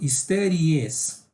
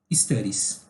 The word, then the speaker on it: studies: você vai acabar falando studies. Você adiciona uma sílaba aí, não é para adicionar, é simplesmente studies. Imagina que você acrescentou, em termos de pronúncia, você acrescentou apenas um S, ok?